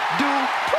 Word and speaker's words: Dupri: Michael, it's pronounced Dupri. And representing the Alpha Academy from Phoenix, Arizona, Maxine Dupri.